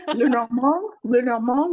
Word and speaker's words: Lenormand: Lenormand would be the French pronunciation, but we say Lenormand, we say Lenormand.